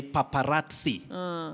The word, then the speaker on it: paparazzi: So that Z takes the sound, just like if you remember, we also say paparazzi, not paparazzi. All right. Paparazzo, not paparazzo. So in this case, this Z takes the sounding ts, just like also in schizophrenia.